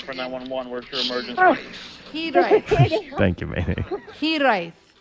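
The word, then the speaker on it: Hiraeth: Hiraet. Thank you, man. Hiraet. Okay, it's Hiraet. No, I don't like it. So it's pronounced Hiraet.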